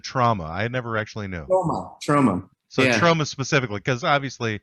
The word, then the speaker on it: Troma: Is Troma the actual way it's pronounced, or is it trauma? I never actually knew. Troma.